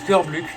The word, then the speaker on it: Kirbluk: Mais mon pseudo se prononce Kirbluk. À des moments, je dis Kirbluk, mais c'est un réflexe un réflexe. Comme on dirait Kirby, il faudrait dire Kirbluk. C'est en référence à John